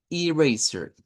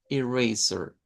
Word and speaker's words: eraser: La siguiente es el eraser. Eraser. Este es con una I corta. Lo vamos a hacer así. Con una I corta, luego vamos a decir razor. Eraser. Es con una schwa al final, igual que t-shirt.